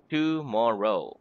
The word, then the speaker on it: tomorrow: tomorrow has three syllables two more row so two more row syllables the accent in the word tomorrow is on the second syllable in more tomorrow okay so let's practice